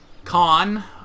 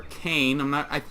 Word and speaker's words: Caen: Caen, or Kane. It's Caen.